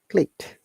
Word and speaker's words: clicked: Okay, if you add ed, it sounds like clicked. So remember, this ed sounds like T.